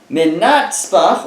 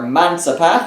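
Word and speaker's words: מנצפ״ך: Says the Gemara, Ve'amar Rabbi Chia bar Ve'itema Rabbi Chia bar Abba Minatzpach or Mansapach. It's an acronym, different ways you can pronounce it.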